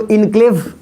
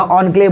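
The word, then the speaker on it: enclave: इसको इनक्लेव नहीं बोलिएगा, ऑनक्लेव बोलने की कोशिश करिएगा, ठीक है।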